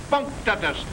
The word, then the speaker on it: punctatus: Octopus punctatus, accent on the punk.